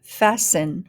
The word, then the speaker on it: fasten: syllable n listen listen next one first syllable fast fast next syllable n fasten fasten cass cass oh castle